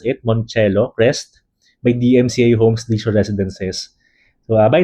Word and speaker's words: Moncello Crest: So uh again this project is called Monelo Crest. So that's how you pronounce it. Monelo Crest DMCA homesure residences.